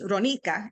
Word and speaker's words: Ronika: uh but yeah but my name is ronika and uh so um and uh and so that's how you pronounce my name and uh but yeah